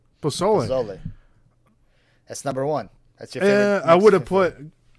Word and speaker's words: pozole: I might pronounce it wrong. Pozzoli. Pozole.